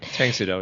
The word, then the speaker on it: Tang Soo Do: He is a 5th degree black belt in Tang Soo Do, right? Is that how you pronounce it? Tang Soo Do, yeah.